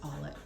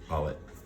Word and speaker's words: Allett: of an RFID blocking wallet the name is pronounced allet allet can you say that again the allet wallet is doing a great job of blocking